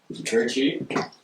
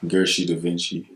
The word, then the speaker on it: Gershii DaVincii: We have a special guest tonight, Gershii. Killing it for the city right now, you know? Yeah, respect, you guys say. Yeah. First, was that pronounced correctly? It's Gershii DaVincii.